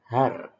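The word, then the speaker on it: הר: Nah, ini adalah H atau H, lalu A, dan kemudian R. Berarti ini bacanya adalah har.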